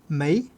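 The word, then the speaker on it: 没: Mei est un mot à double vie, un véritable caméléon. Prononcer mei, il signifie il n'y a pas, la négation d'existence, comme dans meio. Prononcer mo, il retrouve son sens originel lié à l'eau, se noyer, sombrer, disparaître sous la surface.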